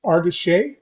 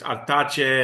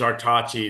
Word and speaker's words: Artache: your last name's pronounced Artis. Artachi. If you're going to say it in Spanish, it's Artache. In French, it's Artache, like you say. But I try and use Artachi.